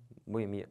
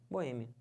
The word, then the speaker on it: Boêmia: o certo é ibero finalizando essa palavra aqui que o pessoal fala como Boemia né Boemia tá errado certo é minha Boêmia Então você separa assim uma boa hein a sílaba tônica é esse e que já tá até acentuado não pode falar Boemia